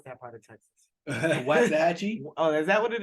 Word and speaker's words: Waxahachie: I feel like you didn't pronounce that part of Texas. Waxahachie?